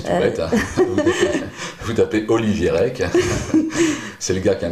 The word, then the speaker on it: Rech: D'accord, alors en fait, on prononce Olivier Rec, mais c'est Olivier... Ça s'écrit Rech, R-E-C-H, voilà. mais ça se dit Rec à la bretonne, quoi. Même s'il y a d'autres artistes Rech qui se prononcent Rech.